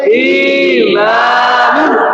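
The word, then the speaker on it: إِيمَانٌ: বলেন ইমা ইমা ইমা তারপরে নুন দুই পেশ নুন নুন দুই পেশ নুন নুন নুন নুন দুই পেশ নুন উচ্চারণ করেন ঈমানুন সবাই বলেন ঈমানুন আবার বলেন ঈমানুন যেখানে টান আছে টানে পড়েন ঈমান আবার বলেন ইমানুন এরপরে দেখা যায় জি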